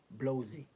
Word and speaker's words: blowsy: or Dart is BL blowsy rhymes with drowsy untiy or red fist